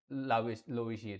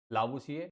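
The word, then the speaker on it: Lavoisier: आर वैसे silent होता है इसमें, लावुशिए लोविशिए कुछ भी अलग अलग कहते हैं, कुछ भी कह सकते हो आप, ठीक है।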